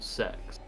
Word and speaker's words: CeX: No, in the UK we have a shop called Sex, but it's spelled CEX.